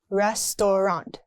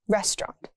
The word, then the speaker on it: restaurant: Restaurant, not restaurant. It's simply restaurant.